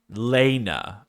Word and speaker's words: Lena: Is it L E N A or Lena like L A Y N A?